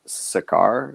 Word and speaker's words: Sakaar: And now we know how to pronounce it because I've always pronounced it Scar, but I guess it's Sakaar.